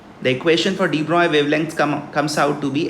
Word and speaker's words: de Broglie: The first question that we have in front of us, de Broglie wavelengths, it is pronounced as de Broglie, of two particles A and B are plotted